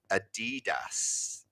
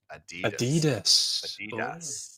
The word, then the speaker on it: Adidas: Americans say Adidas. Adidas. Oh.